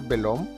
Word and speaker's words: Belome: Y ese personaje es Velome, o por lo menos escribe Velome. Se puede pronunciar Belom. Belom. Yo le decía Velome.